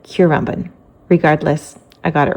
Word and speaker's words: Currumbin: So the general consensus seems to be Currumbin, although some people pronounce it Currumbin.